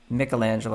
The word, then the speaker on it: Michelangelo: if you're if you're michelangelo michelangelo i should say since i i know that's the right way to pronounce it and you're working on